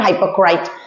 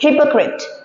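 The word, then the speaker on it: hypocrite: Pronunciation भी हम साथ-साथ सीखते हैं। This not हाइपोक्रेट। This is हिपोक्रेट। वन हिपोक्रेट वो लोग होते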